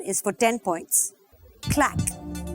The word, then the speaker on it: claque: Clack. It is pronounced clack and also Clark.